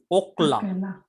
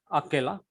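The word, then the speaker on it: אכלה: The clue is, if I write one word, Now this is okla, not akela. It is okla.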